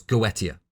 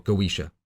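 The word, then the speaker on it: Goetia: associated iated with necromancy was gotia or goisha as it's often pronounced this is obviously a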